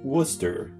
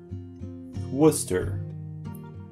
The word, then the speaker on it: Worcester: This part is pronounced Worcester. Worcester.